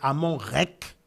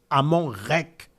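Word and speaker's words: Amon-Rê: Donc ça, c'est, on va dire en égyptien ancien, qui est devenu aujourd'hui rec, qui est la bonne prononciation. C'est Amon rec. Amon rec.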